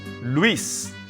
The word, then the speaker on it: Luis: ones so pay attention one syllable luis it's the name lois in english but it doesn't make it luis in spanish or louise no it's luis one syllable it's circuit in